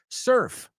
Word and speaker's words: surf: La U es una E en tu cabeza.